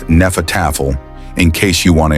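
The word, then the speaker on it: Hnefatafl: Henefel, pronounced nefatafle in case you want to impress someone at a renfair.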